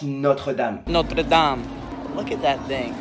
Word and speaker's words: Notre-Dame: Notre-Dame? It's actually pronounced Notre-Dame.